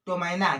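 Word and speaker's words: ptomaine: तो क्या लिखा है, टोमैना। क्या लिखा है, टोमैना, है ना। यहाँ पर p को नहीं पढ़ेंगे, क्यों नहीं पढ़ेंगे, क्योंकि p के बाद t आ रहा है ना।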